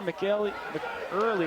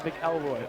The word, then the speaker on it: McElroy: That's number 4, McEarley, excuse me. And he's going to gain 15 yards on the carry. And I kind of butchered the name a little bit, excuse me, that's McElroy, Owen McElroy.